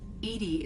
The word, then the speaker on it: EDI: are you named Edie Edie is the phonetic pronunciation of EDI that is an act